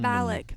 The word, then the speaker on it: Valak: Valak, that's how you pronounce it.